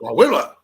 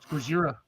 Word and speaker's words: Gojira: Godzilla. You got to say it right. Gojira.